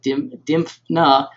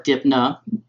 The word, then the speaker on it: Dymphna: Dymphna you pronounce it dim Dymphna or dip nough so she is our